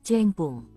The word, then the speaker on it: Qingpeng: Qing dimulai dengan bunyi CH, jadi Qingpeng diucapkan kurang lebih seperti Chengpung. Kita lanjut ke alur ceritanya.